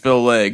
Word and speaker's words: Phil Legg: the buck for sure so that is how you say the name we get people announcing his last name all kinds of crazy ways if you're curious it is just Phil Legg It's Phil Legg yeah